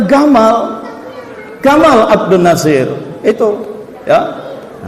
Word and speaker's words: Gamal: Jim mereka baca G nama presiden mereka dulu Jamal Abdul Nasir dibacanya Gamal Gamal Abdul Nasir itu ya Jamal panjang artinya